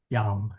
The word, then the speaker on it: jam: If you were to go to an old missal, you would see a jam, but don't pronounce it jam. Okay. It's yam.